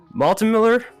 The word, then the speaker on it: maltemller: maltin miller is that how you pronounce the name yeah all right sounds good